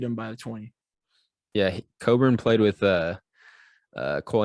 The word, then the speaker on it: Cockburn: don't think i know it's not how you print cockburn how do you pronounce it better it's coburn but coburn uh spelt cockburn he is huge she's